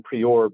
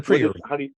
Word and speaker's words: Priore: First off, I've heard many times with you going into, I mispronounce his name. I call him Priore, but it's Antoine Priore. Antoine Priore, French.